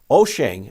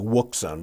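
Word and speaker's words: Wouxun: three have but their prices are compelling currently oshang i know it looks like wukson but it's pronounced o shang was the first and offered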